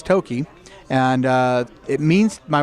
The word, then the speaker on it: Toki: the DVD of the movie now but they mispronounce it as toai so uh but it's Toki and uh it means my wife looked it